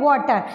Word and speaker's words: water: A, wa, o. See, letter is A, but the sound is O.